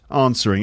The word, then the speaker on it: answering: not a difficult word answering it's got a silent letter in it where's the silent letter in answering of course it's the W so it's not answering